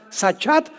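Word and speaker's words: שחת: También es importante porque la palabra hebrea sachat se escribe con s Samuel y ch como suena sachat con té de tío al final y esta palabra significa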